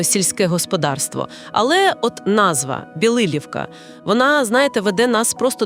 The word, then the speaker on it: Білилівка: І одразу, щоб ми правильно все вимовляли, наголос на другий склад. Білилівка. І річка там розставиться. Авже ж, Білилівка стоїть саме на річці Роставиці.